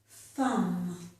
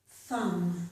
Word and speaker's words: thumb: Thumb, thumb. This is my thumb. And plumber, plumber. Person who fixes the pipes. We have other words too where the letter B is not pronounced.